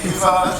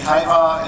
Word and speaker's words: Hyvä: You don't need to pronounce it correctly, you don't even have to pronounce the name of the company correctly. I say Hyvä, you say Hyvä, it's all fine, it's all great.